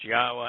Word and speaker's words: Yahweh: to corrupt that message that yahweh's name is pronounced yahweh and it is essential then he will strike